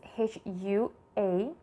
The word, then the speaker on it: hua: of hunting is Hua the spelling is h u a the pronunciation of U is U and the pronunciation of a is ah so as can it sounds like uh if we add the consonant H it is going to sound like Hua now let's take another